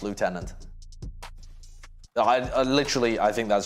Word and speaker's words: lieutenant: water water water water left tenant yeah no listen i'll give you guys lieutenant that's just stupid it should be pronounced lieutenant i literally i think